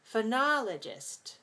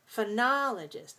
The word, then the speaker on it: phonologist: that phonology the person phonologist phonologist notice those o's they're not all the same sound they're all different do you see the